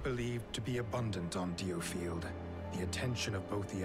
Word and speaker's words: Diofield: to be abundant on deofield the attention of both the Empire and the alliance inevitably turned towards the island now I learned that you pronounce it deal field of Alec ward of